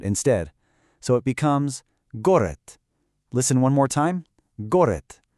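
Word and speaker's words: город: It ends in d, which makes a d sound, but because of our rule, we pronounce it with a t, a t- sound instead. So, it becomes goret.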